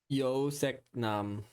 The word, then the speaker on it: 요섹남: Yo sek nam.